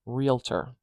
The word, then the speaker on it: realtor: look at the word realtor realtor there are two options of ways to pronounce this word let's get into